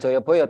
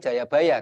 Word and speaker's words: Jayabaya: Jayabaya mohon maaf sebelumnya bacanya bukan Joyoboyo tapi Jayabaya karena Jayabaya ini Raja